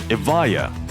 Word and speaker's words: Evija: Just for clarity, Evija is spelled with a J but it is pronounced like it has a y. Evija.